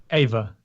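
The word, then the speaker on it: Ewa: this girl on and i can barely pronounce her name it's uh ava ava ava i think anyway i think she says her name iwa i don't know e-w-a e-w-a what how's it pronounced ava ava that's what i thought uh she's gonna be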